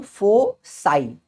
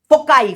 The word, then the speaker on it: foci: तो मैं बोलता हूं फोसाई, प्लूरल। जब मैं दोनों की बात करता हूं, फोकाई फोकाई फोकाई ऐसे नहीं बोलना है, फोसाई। इसका करेक्ट प्रोनाउंसिएशन क्या है? फोसाई। एक रहेगा फोकस, F1 F2।